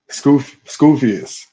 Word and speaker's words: Skufius: By So Skufius would be pronounced by you how? Skufius.